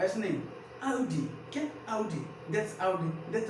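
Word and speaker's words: Audi: हाँ, हुंडई, क्या means Hunde, Hyundai नहीं ह्यूंडे, क्या हुंडई नहीं ह्यूंडे, आउडी, अब ध्यान रखिएगा, आडी नहीं, अब नहीं, आज के बाद नहीं बोला है कि आडी, आडी का ऐसे नहीं, आउडी, क्या आउडी, that's आउडी, that's a Ferrari, क्या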